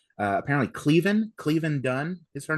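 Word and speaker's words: Caoilfhionn: I thought and her name is uh uh I had to look it up to see how to pronounce it because it's a it's an Irish name. Uh apparently Cleven Cleven Dunn is her name.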